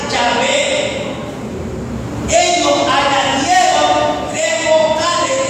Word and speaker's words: yahvé: e la H la b y la H yahvé ellos añadieron tres bales e o a y